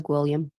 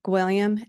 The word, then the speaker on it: Gwilliam: the next witness the state will call Samantha gam very well is that you miss Blake yes